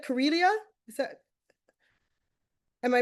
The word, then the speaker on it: Corelia: So, let's start with um, Carellia. Curelia, is that am I pronouncing it correctly? Yes, you are pronouncing it correctly. It rhymes with Australia.